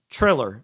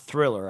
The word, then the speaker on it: Triller: stream right but and i've been mispronouncing triller it's triller not thriller i keep mispronouncing it but listen if you